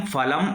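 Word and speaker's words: फलम्: फलम में जो मां है उस पर हलंत का प्रयोग है, अर्थात वह जो मां है वह आधा हो गया है, स्वर से विहीन है। इस मां में कोई स्वर नहीं है, उच्चारण भी बिल्कुल आधा होगा, मधुरम फलम अस्ति।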